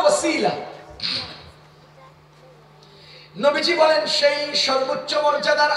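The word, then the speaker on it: وسيلة: এটার উচ্চারণ হলো ওসিলা।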